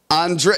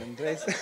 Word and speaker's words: Andres: My dear compañero, Andre, how do you say your last name? Andres. I want to make sure I get.